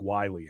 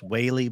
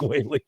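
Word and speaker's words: Wylie: That one and another one over Lake Wiley area. It's another hours in an hour. Pronounced Whaley, but that's all right. Lake Whaley.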